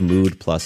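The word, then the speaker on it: Müd Plus: your mood then give mood plus a try the company is called mood plus but it's spelled mud with an oout over the U so listen close for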